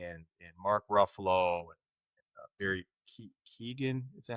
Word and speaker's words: Keoghan: But with Halle Berry and Mark Ruffalo and Barry Keoghan, is that how you pronounce his name? Keoghan.